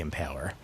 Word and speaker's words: Impaler: Dracula, Vlad the Impaler. Or Vlad the Impaler. For the proper emphasis on the right syllable.